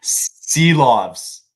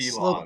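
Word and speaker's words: Saros: Not Seelovs. Seelovs. Who am I thinking? Slovis.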